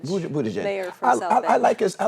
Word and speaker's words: Buttigieg: Bumashar? Pete Buttigieg. Buttigieg.